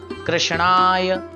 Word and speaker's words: कृष्ण: से नहीं करते भाई कृष्ण नाम है कृष्ण नहीं है बहुत से लोग तो कृष्ण कृष्ण जी कृष्णा कृष्णा कृष्णा नहीं होता हां यद्यपि हम वात्सल भाव से या फिर भक्ति भाव से अगर उच्चारण करें कृष्ण तो इसमें कोई दोष नहीं है लेकिन शुद्धता की दृष्टि